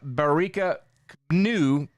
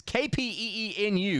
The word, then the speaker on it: Kapenu: North Dakota State running back Bara Penu. It's KPE nu. You pronounce it. Kip Kapenu and we'll figure it out.